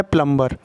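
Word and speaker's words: plumber: हो हो गया है उसके बाद है प्लंबर प्लंबर मतलब क्या होता है नल दुरुस्त करने वाला नल साद बोलते हैं उसको तो यहां पर भी बी साइलेंट है उसके बाद है कम्स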